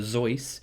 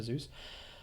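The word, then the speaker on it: Seuss: dr zeus or apparently he's meant to be pronounced as dr zoice because he i think he's german i could be wrong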